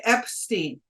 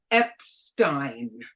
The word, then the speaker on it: Epstein: his name Brian Epstein I called him Brian Epstein and at that moment he said no my last name is Epstein okay and so I've always referred to him as Epstein now because I made